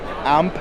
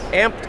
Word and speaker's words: Amped: lithium battery of course it's not amp like I say how do you say it matters your company name oh amped Outdoors not amped no see it's learn how